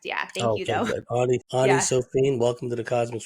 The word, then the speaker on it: Ani: So, without any further ado, Annie, welcome to the Cosmic Switchboard Show. Thanks, James. It's actually pronounced Anie, but thank you though.